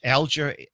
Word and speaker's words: Alger: Can you spell that? Is it Alger, A-L-G-E-R.